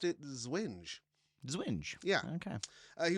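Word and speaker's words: Zwinge: Me part of my me wanted to do the W as like a V sound like German.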